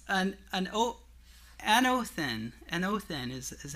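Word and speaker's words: ἄνωθεν: again it means an oath an oath in an oath in is how you pronounce it in the Greek it means from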